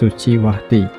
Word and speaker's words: Suciwati: The letter C is pronounced ch, and most words emphasize the second to last syllable. For example, Suciwati is pronounced Suciwati, though French call her Suci.